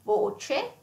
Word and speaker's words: voce: So it can be closed as in voce. Voce, you see, is closed O.